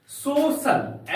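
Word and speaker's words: social: हम लोग बोलते है सोशल एस ओ सी आई ए एल सोशल हम लोग सोशल बोलते नहीं यहां पर सी आई ए है तो इसलिए इसका उच्चारण श होगा शोषण सोशल इसका अर्थ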